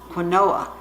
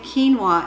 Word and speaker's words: quinoa: be honest with you when I first saw quinoa I pronounced it Manoa and in my mind when I see it it's still Kanoa so I will try to say quinoa in this video but